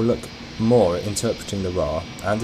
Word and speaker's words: RWR: of the ADI is the radar warning receiver or rwr pronounced raw this indicates what radar